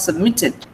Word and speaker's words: submitted: Then when you add ed, the stress does not change. So it becomes submitted.